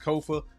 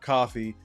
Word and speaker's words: Kofa: Again, I am your humble host, Kofa, K-O-F-A, not coffee, not kufu, not Kofi, or any variation thereof. Kofa rhymes with sofa.